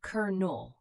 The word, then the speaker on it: Colonel: Colonel, this is a military rank. We say cur-nul.